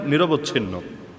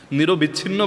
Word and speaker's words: নিরবচ্ছিন্ন: হুসুম মানে নিরবচ্ছিন্ন, নিরবিচ্ছিন্ন বলে অনেকে, মূল উচ্চারণ নিরবচ্ছিন্ন, মানে অব্যাহতভাবে আল্লাহ তাআলা একদম টানা পাঠিয়ে দিলেন, কোনো থামাথামি নাই।